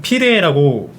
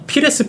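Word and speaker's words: Pires: 사람들도 있고 우리도 되게 예전 중계진 중에는 피해라고 말씀하시는 분들도 있는데네 맞아요 우리 아스널 코리아 지금 시청하시는 분들 중에서 레스를 예전에 피해로 표기했던 거 기억나시는 분들이 있을 거예요 실제로 뭐 피해라고 저렇게 써놓고 피해라고 발음하는 사람들도 있을 겁니다 하지만 아마 피레스 본인이 스라고 발음하는 걸로 알고 있어요 아 그러면 잉글랜드 현지에서는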